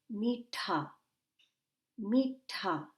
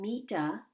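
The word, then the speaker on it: मीठा: to notice is that see the h the letter h after the t that is important for us to practice good pronunciation so listen to how i say this word meet me ta i'm not saying mita i'm saying so do you hear me kind of inserting an h sound after the ta that's important for good pronunciation we say what are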